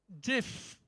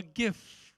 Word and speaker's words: GIF: says filters Vector compression GIF or GIF how is it called JF right JF is the right pronunciation someone has got it